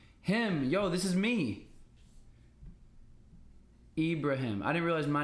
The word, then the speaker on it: Ibrahim: ibraim e ibraim him yo this is me Ibrahim I didn't realize my name was in Ibraham